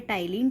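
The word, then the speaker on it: ptyalin: अच्छा, ये P silent होता है, ओके, तो इसका राइट आंसर है टाइलिन।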